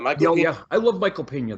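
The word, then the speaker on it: Michael Peña: I think that's how you pronounce his name. Michael Pena.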